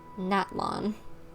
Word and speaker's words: Natlan: Natlan. Okay, good to know that's how I pronounce it.